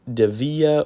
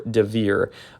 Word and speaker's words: Dievier: You can pronounce it Dievier or Dievier. In this video I pronounce it as Dievier because that's just how I read it in Spanish, but you can say it, yeah, Dievier or Dievier. Either way works.